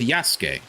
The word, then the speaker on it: Yasuke: You're supposed to say it yas. You're not supposed to say yasuk. Now, Suzuke is only if you're like really pronouncing like every single individual pronunci, you know, syllable of the name. Otherwise, you sort of like run over the sue part. And so, it's just like Yasuke.